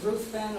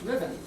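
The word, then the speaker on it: Ruthven: r u t h v n some people pronounce it ruthen or ruen but it's actually supposed to pronounced Riven who was a Scottish nobleman and based in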